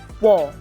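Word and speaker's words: ㅘ: The first one is pronounced as wa. As you can see, this is a combination of o and a, so it becomes wa.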